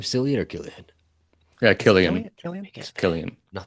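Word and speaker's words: Cillian: Yeah, Killian.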